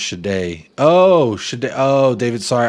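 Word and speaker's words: Sade: It's pronounced Shade.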